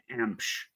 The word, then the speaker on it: Emch: to real quick my my last name is pronounced msh okay well that's okay em it's pronounced